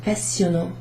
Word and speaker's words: passionnant: C'est passionnant. C'est passionnant. Passionnant. Double S. Passionnant. We don't pronounce that T at the end.